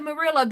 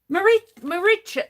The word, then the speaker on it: Maricha: And I want to call you Mirilla, but it's not Merilla. It's um Tell me your name. Tell me your name. Maricha.